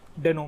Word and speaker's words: Deno: सबसे पहले जो प्रोनाउंसिएशन है वो डेनो नहीं है, डीनो है। कभी कभी मुझसे भी गलती होती है, बट एज अ क्रिएटर ने ये खुद बोला है कि इसको हम डीनो प्रोनाउंस करेंगे, ना कि डेनो और समथिंग एल्स।